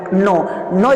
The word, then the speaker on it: know: एक होता है NOW, नाउ जिसे हम पढ़ते हैं, और एक होता है KNOW, नो यहाँ पे के साइलेंट है तो इसे हम पढ़ेंगे नो मीन्स होता है जानना, KNOW, नो मीन्स होता है जानना।